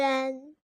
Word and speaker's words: 晕: Holistically recognized syllables do not need to be spelled; they need to be directly voiced out. 晕，晕，晕。 Yun, yun, yun.